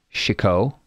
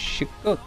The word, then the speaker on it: Chicot: I think the T is silent. Chico. It's like chic, right? That's how you say chic.